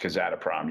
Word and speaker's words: Kazatomprom: Yeah, because I think that's how it's pronounced, Kazatomprom.